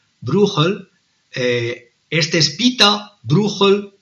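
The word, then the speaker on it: Brueghel: eh bruel o bruegel pero en flamenco se pronuncia bruel eh este es Pita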